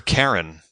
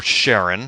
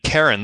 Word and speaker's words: Charon: called an able for Karen well I sent you the link because I had to look it up too and one we both had the pronunciation wrong it is not an oal for Sharon no um but that's